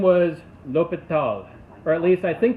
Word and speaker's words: L'Hôpital: And so the guy's name was L'Hôpital, or at least I think that's how you pronounce it. I don't know French, but I've tried trying to figure out how to pronounce it correctly. El Hospital.